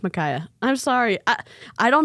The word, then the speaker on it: Makaya: pronouncing your name right I remember when I said it wrong because I think I said Makia and I think that's wrong so I think it's Micaiah I'm sorry I I